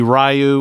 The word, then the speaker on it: Ryu: Look in the background here, you can see Ryu, or Ryu, depending on how accurate you want to be with the pronunciation, but anyway, Ryu from Street Fighter, walking